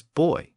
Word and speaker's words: buoy: about 20 years earlier he says that bu y should be pronounced with a BW sound at the beginning and quote should never be pronounced as boy end quote now given